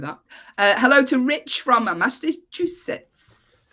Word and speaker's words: Massachusetts: Hello to Rich from Massachusetts. Am I saying it correctly? Massachusetts? Yeah, Massachusetts is good.